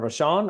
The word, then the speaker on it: Vashon: Is it Vashon or Vashon Island?